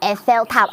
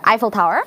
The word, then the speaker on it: Eiffel Tower: 와우, 여러분 저도 이렇게 에펠탑은 좀 많이 봤는데 에펠탑 발음하실 때 에펠탑 아니고요. 아이펠 타워이라고 해요. 맞아요. 아이펠 타워.